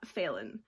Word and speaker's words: Phelan: quarantine by James Phelan I think is failing is pH e le in so I'm pronouncing that failing this was also the